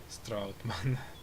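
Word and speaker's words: Strautmann: Because as much as I like that Stroutman trailer, Stroutman trailer, really, that's how it's said.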